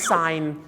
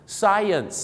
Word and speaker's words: science: ครับ ไม่ ยาก ครับ ก็ คือ ออก เสียง ว่า ไ แล้ว ก็ อย่าง งี้ ครับ แฮ่ ไ นั่น เอง ฮะ ไซ เหยน เนี่ย คล้าย ๆ เหยิน เ นะ ฮะ Science นั่น เอง ครับ ผม Science นัก